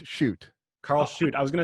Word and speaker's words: Schudt: Karl Schudt. I actually don't know how to pronounce your name. Nobody does. They dropped the umlaut in Ellis Island. It's Schudt.